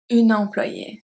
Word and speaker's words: employée: So you see, for the two last ones, the pronunciation doesn't change, but we do add a at the end.